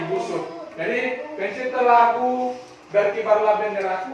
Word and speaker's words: Ibu Sud: Ya, bacanya Ibu Sud.